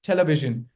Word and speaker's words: television: It's this this correct the correct pronunciation of this word is television. Remember the sh sound. This e has been replaced by that sh sound.